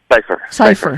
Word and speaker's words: Cypher: Do you pronounce it Cypher or Cypher? Cypher.